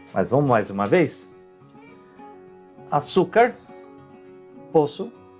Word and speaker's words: açúcar: Então, açúcar, vocês vão ver que se escreve diferente, mas a origem é a mesma, o som também.